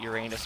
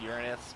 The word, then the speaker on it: Uranus: mean mass pun without uranus being involved before someone types it down below i know it's supposed to be pronounced Uranus but still don't care another life support capsule